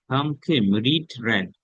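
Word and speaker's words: read: কি করেছে ভারব কি করেছে ভার্ব ভার্ব গোয়েন্ড রেড বানান উচ্চারণ হবে রেড রিড রেড রেড বলতেছেন আমি আজকে ইংলিশ পত্রিকা পড়েছিলাম।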